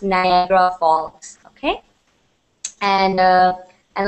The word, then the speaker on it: Niagara: PDF all right and it is pronounced Niagra all right I can see a couple couple of people asking in burbling chat how is what is the name of the falls it's pronounced Niagra Falls okay and uh and like I said